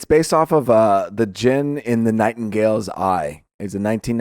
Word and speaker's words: djinn: There's another term for it, but I don't know djinn, what it is. Right? Djinn? A djinn? Is that right? I think so. It's spelled DGINN, but I think the D is silent.